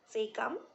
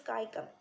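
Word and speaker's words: caecum: it has three parts seeum cologne and rectum what are they seeum also you can pronounce it as skyum cologne and rectum so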